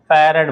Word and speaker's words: farad: ए लिख लिया क्या, इसे क्या बोलते हैं, फैराड बोला जाता है, ठीक है। अब आपने फराड पढ़ा हो तो वो भी बात अलग है, स्पेलिंग चूंकि वैसे ही है, ठीक।